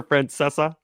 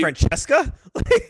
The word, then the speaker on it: Francesa: It's a weirdly specific number, Francesa. Is that not how you pronounce it?